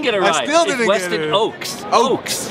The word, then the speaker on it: Ochse: Ochse. Ochse. I see right? the CH, bro, in Mexican. I pronounce it the sh.